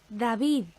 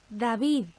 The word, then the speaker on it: David: English boy's name, David, listen to the contrast between the first D and the final one. David, David.